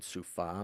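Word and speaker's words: סופה: in related apocalyptic literature is commonly sufa sufa pronunciation sufa meaning whirlwind, storm, tempest.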